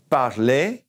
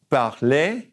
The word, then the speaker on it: parler: First of all is aimer, aimer, and espérer, espérer, parler, parler, to speak, remember to look for, chercher, chercher,